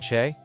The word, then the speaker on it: c'è: It sounds like c'è.